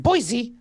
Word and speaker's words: Boise: It's pronounced Boise.